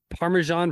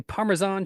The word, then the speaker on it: Parmesan: But it's also that's like Parmesan versus Parmesan. I hear white people say Parmesan cheese, and I always was mad at that.